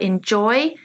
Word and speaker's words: enjoy: Well done if you identified enjoy, the stress on the second syllable here. All the others, the stress is on the first.